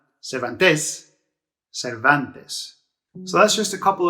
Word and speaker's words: Cervantes: is cervantes that one does end with a vowel in rs so you stress this second to last there are the penultimate syllables so cervantes cervantes so that's just a